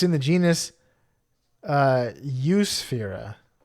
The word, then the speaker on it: Eusphyra: It's in the genus Eusphyra. Spelled like Europe. Eusphyra. Spelled exactly like Europe. It's crazy pronunciation. It just says Europe in front of us, but we know it's pronounced Eusphyra.